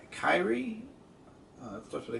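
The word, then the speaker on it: Kiera: Now, also, I forgot how to pronounce her name. Kyrie? It starts with a K. Carrie? K-I-E-R-A? Yes. Carrie.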